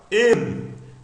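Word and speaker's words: ἐν: Tem um acento circunflexo. Esse é um tipo de circunflexo do grego. E a aspiração debaixo do acento. Olha só. Isso não altera a pronúncia, só está indicando a sílaba tônica. Fox também só tem uma, não é? Mas a aspiração aqui de baixo é o quê? Branda, então fica N.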